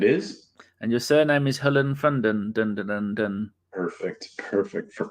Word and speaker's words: Hollefreund: is Jeff it is and your surname is Helen fonden perfect perfect for pronunciation and you are in fact an ABW